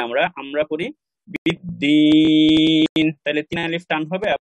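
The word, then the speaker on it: بالدين: এবং যখন আমরা থামি তখন শেষের যে হরকতটা আছে এটাকে আমরা সাকিন হিসেবে উচ্চারণ করি, যেমন বিদ্দিনই পড়ি না আমরা, আমরা পড়ি বিদ্দিন, তাহলে তিন আলিফ টান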